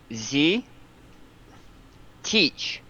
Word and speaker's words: Zitic: So, So, Z-Titch or Z-Kitch? Z teach. Like, Got it. I'm going to teach you how to pronounce my name. Z-Teach.